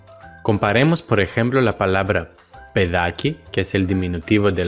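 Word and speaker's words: παιδάκι: Pero ¿cómo podemos indicar que la combinación alfa-iota en el primer caso se pronuncia E, pedaki, y en el segundo caso se pronuncia ai, paidaki?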